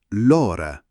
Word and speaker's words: l'ora: Attenzione alla R in l'ora, non è una A, è una R leggera, l'ora.